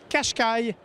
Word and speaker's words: Qashqai: Et rappelez-vous, on prononce Qashqai, malgré l'orthographe, un peu étriqué, il faut bien l'avouer.